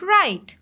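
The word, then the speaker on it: write: टी ई राइट लिखना देखिए ये साइलेंट लेटर भी है इसमें डब्लू हम राइट कह रहे हैं राइट नहीं लिख रहे हैं हम राइट तो ये डब्लू जो है इसमें साइलेंट लेटर है ठीक है नेक्स्ट है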